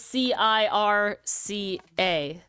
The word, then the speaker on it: circa: i and not c e yes cira is c i r c a Circa yeah okay but it's the c i